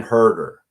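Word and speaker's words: Huerter: You didn't spell it exactly right. Uh Kevin Herder is his name. Yeah. Hu Huer.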